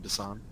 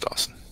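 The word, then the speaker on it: Dason: You mean Dasan? It's pronounced Dawson. Dawson. He just spells it funny. He just left out the W.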